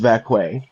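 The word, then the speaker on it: Vaquer: Just like Stephanie Vair is your uh It's pronounced Vqu.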